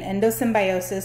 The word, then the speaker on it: endosymbiosis: two organelles is defined by something called the endosymbiosis theory. Well, I learned it as endosymbiont. Doesn't really matter. It means the same thing. So whichever I say, that's what I mean. Endosymbiosis or endosymbiont theory.